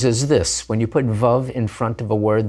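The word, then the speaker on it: וָ: and night is Yom Va Laila. Here's another example, wood and stone, Eitz Va Even. It's va, not v, when it's followed immediately by a word that's accented on the first syllable.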